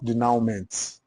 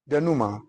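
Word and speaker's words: denouement: Duma is not denment. That's the pronunciation. Denuma.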